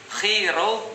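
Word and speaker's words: Chi Rho: Nah, jadi XP itu kalau XP bacanya dalam bahasa Yunani, X itu bacanya chi, P itu bacanya ro. Jadi kalau XP, chi ro bacanya adalah Christ, artinya adalah Jesus Christ.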